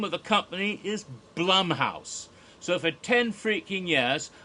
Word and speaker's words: Blumhouse: of the company is Blum house so for ten freaking years I've been calling it Blum house when I should have been calling it Blum house and his name is Jason Blum I just didn't know